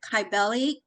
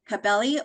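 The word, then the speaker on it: Cybele: Yeah, they say either Kyelli, Cabeli or Chabelli.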